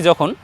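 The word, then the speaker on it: زا: দ্বিতীয় বর্ণ পেলাম যা বর্ণকে আমরা উচ্চারণ করব জিহ্বার আগে এবং নিচের দাঁতের সামনের দুই দাঁতের পেটের সঙ্গে লাগিয়ে বলবো যা একটু আওয়াজ হবে চেপে আওয়াজ হবে যেমন আমরা ঝ বর্ণ উচ্চারণ করি ঝামেলা বলি ঝামেলা যেমন বলি ঝ এর মতোই ঝা বাংলা বর্ণের এর মতো পুরোপুরি কাছাকাছি হবে না এটি একটু পৃথক হবে চিকন হবে যা হবে এর উচ্চারণ যা প্রিয় দর্শক দেখুন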